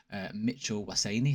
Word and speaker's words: Mitchell Waseni: As I've mentioned before, Mitchell Waseni, that's how you say his name, just as good.